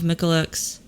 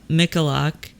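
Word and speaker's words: Michalak: journal for scientific exploration states that some of michalex yeah I totally said his name wrong there uh mikalak long lasting effects including the skin lesions which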